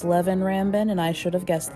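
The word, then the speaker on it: Leven Rambin: It is pronounced Levin Rambin, and I should have guessed that.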